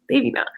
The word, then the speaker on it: Devina: uh my name is devina it's pronounced day t-h-e-y they vena devina and i have been